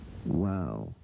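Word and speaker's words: ו: Wow. Wow. Wow. Pronounce it. Look at it. Another pronunciation. Pronunciation. Wow. Wow. Say it. Wow. Wow. Go over this video. W sound as in what and water.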